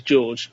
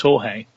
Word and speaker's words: Jorge: Malona Malone Molina Molina now I don't know if George is pronounced George or is it yeah it's Jorge isn't it yeah this is me not at all being very clear with how to pronounce names but to me it says George but it's not George it's jge but um he's a